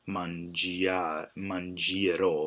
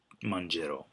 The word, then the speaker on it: mangerò: Remember to drop the I to keep that soft G. You don't want mangerò. You want mangerò.